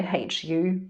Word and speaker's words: HU: of my german way hu but you could also spell it w h o i guess um and so it's not vocalized as in the u is silent however we are pursuing